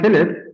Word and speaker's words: Philipp: the show paul phillip how do you say your name in german and totally germany is called philip but in english i would say paul phillips but yeah okay it